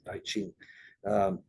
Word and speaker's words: I Ching: The Book of Changes, you've heard of it, Book of Changes, I Ching. I Ching. Looks like Ching, but it's usually pronounced with a J, I Ching.